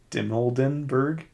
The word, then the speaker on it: Dimoldenberg: chicken shop date uh amelan Amelia di diber dimoldenberg oh sorry that's how you say it sorry